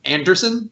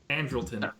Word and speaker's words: Andrelton: Wait, do you pronounce Simmons' name Anderson? Like I always thought it was like Andrelton or something. Andrelton. Okay. Oh, did it sound like I said Anderson? Yes. Yeah. Oh, okay. No, Andrelton Simmons is my choice there.